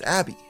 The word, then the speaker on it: ABBBBBBK: They nicknamed it ABBBBBBK, which fans later decided to pronounce as Abby.